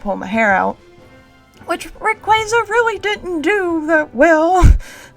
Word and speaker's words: Rayquaza: But we're pronouncing it Rayquaza.